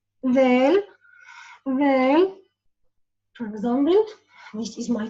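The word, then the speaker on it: د: The tip of the tongue touches the edges of the two upper incisors. Del, del, for example, this is my tongue.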